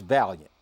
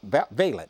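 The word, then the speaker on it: Vaillant: wrong but anyway a man named uh George Valiant uh veent is how it's pronounced Dr George veent he's also a professor I don't know what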